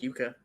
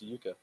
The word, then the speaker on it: yucca: liked when i typed i thought it was pronounced huka uh yeah it's pronounced yuka oh jakob is a plant it is it's